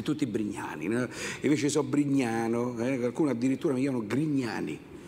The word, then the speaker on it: Brignano: sul cognome, vi prego, al cognome Brignano con la O, attenzione all'accento, perché se no c'è accento acuto, che la lingua italiana non permette errori, c'è accento acuto e accento grave. Brignano e accento grave con l'acuto sarebbe tronco, sarebbe stato Brignano, che non è più un cognome, ma è il passato